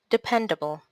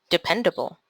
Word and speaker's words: dependable: pronounce this word literature dependable how many syllables in dependable divide into syllables the stressed syllable independable is on the pen syllable so how do we pronounce this word dependable dependable professional how many syllables